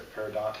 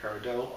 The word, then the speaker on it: peridot: pointed out to us the peridot and peridot are both acceptable pronunciations of the work I guess you could